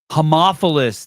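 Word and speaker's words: Haemophilus: Dtheria, tetanus, ptasus, polio, hmophilus b, homophilus, that's how you pronounce it, homophilus, and hepatitis B, six in one.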